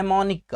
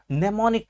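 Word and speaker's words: mnemonic: दूसरा क्या है ने मोनिका को और दूसरा क्या है निमोनिक टेक्निक खर्च लिखा है मंडे मॉर्निंग क्या लिखा हुआ है मैंने मोनिक लिखा हुआ है लेकिन पड़ते हैं क्या है इसको निमोनिक पड़ते है ठीक है तो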